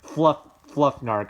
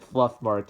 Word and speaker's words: Fluffnark: So nothing is good as Fluffnark. I mispronounced it Fluffmark in my earlier vid on it, and I just couldn't believe it.